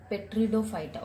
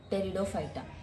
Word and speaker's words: Pteridophyta: This is not a Petridophyta. Okay, P is silent, so pronounce it like Pteridophyta.